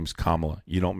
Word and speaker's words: Kamala: Camala. Would you let Kamala babysit your child? If you don't say her name correct, I'm going to kick you. Her name is Kamla.